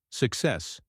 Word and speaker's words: success: Success, success. The stress is on the second syllable.